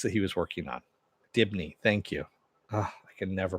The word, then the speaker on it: Dibney: It becomes Sue Digby. Digby? I can never pronounce his last name.